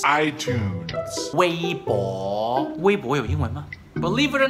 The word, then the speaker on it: iTunes: It's iTunes. iTunes.